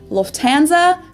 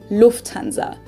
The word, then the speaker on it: Lufthansa: with them before in english people usually say loftanza but in german we say lufthansa so now of